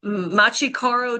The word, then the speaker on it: Machi Koro: So instead, we started the night off with I'm probably gonna pronounce these names wrong. Machi Koro 2.